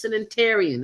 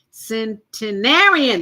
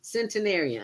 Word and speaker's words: centenarian: our first interview with her first sanitarian and I hope I'm pronouncing that right centenarian there you go centenarian I finally got it right Miss Lisa Charles